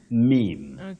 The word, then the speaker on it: meme: that is the plural form the singular form meme a meme the plural memes not memes all right I'm sure they even people who say m but tonight at least they know the correct pronunciation of that word that's a possible one